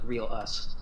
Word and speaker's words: Reiyal'uss: It's Reiyal'uss, right? Real. Reiyal, sorry. If you want to spell it, it's R-E-I. R-E-I? Yeah. Y-A-L. Y-A-L. Apostrophe U-S-S. U-S. Or you could just spell it real us.